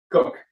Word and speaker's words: Koch: Koch, drums. Cook. Cook. I'm sorry. Yeah, And then okay. Matt Schor. Is that how you pronounce that?